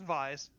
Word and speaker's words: Vise: I'll stick with Vice for a little bit. Or Vise, or however you want to pronounce it. It's Vise.